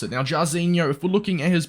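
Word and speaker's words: Jairzinho: I'm gonna butcher this name apparently it's jazzinho jasino is how you pronounce it now jarzinho if we're looking at his base and his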